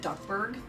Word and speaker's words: Duckburg: Is it Duckburg?